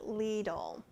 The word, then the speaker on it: Lidl: a good write out how i'm supposed to pronounce it leedle and i will get